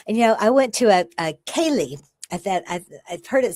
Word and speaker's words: Ceilidh: And, I went to a Ceilidh. I've heard it said different ways, but it's spelled Ceili.